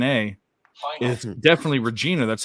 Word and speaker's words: Regina: re e g i n a is definitely Regina that's how you say it but why are